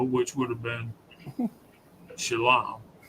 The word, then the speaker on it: shalom: Shalom is pronounced shalom. S l o a m.